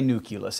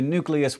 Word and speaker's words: nucleus: find it in you it's probably best to switch over to nucleus which is after all how it's spelled and that is all